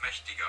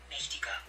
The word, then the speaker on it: mächtiger: Mächtiger. Mächtiger. Okay, so the T is kind of pronounced as a D, and the A with the two dots is pronounced as an E.